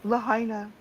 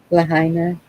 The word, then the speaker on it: Lahaina: Lahaina. Lahaina.